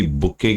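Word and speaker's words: bouquet: वो जो हमारे पास आते हैं बुके ऑफ फ्लोर्स जो हमारे पास ये देखो इसकी बुके की स्पेलिंग बड़ी टिपिकल होती है।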